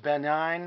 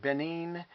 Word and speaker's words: Benin: I ordered these flags from the country of, I think it's pronounced Benin or Benin, B-E-N-I-N, African nation next to Nigeria.